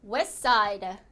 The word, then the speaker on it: west side: 여기 3개의 자음이 붙어 있을 때는 가운데 자음이 단락이 된다. 넌 단락. 이래서 STS 이렇게 3개의 자음이 모여져 있죠. 그러면 T가 탈락이 돼서 어떻게 발음이 되죠? 그렇죠. west side. west side.